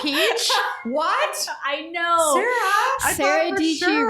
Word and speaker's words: Dietschy: Sara Dietschy rhymes with peachy is a watermelon.